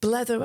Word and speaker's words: blether: Blether on. Okay. Scottish term, I think, blether. Talk. Is it blather? Well, I think they pronounce it blether.